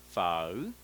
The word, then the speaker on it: phở: with the way that a native speakers say foul foul foul okay so there are two way